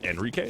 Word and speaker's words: Enrique: And for those of you wondering in chat, we actually spoke with, I believe it's Enrique, is how you pronounce his name correctly.